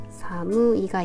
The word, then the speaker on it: 寒い: 하더라고요 차갑다고 할 때는이 형용사로 무이라 아이가 있습니다 사무이가 있고요 그다음에 한이라고 음독 때는이 아이를 칸이라는 발음으로 읽을 거예요 먼저음 춥다라는 말을 쓰는데요 여기에다가이를